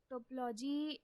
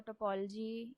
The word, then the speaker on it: topology: Okay, so topology or topology, you can pronounce it either way.